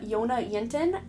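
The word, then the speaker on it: Jonna Jinton: here on youtube named jonah yintin her name is spelled jj yona yenten the j is silent she is from sweden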